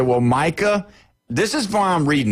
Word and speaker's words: Micah: And he says Michael obviously he told Michael Irvin he called him he called Micah Parsons Micah Michael. He called him Michael in interview. All right. So he mispronounced his name.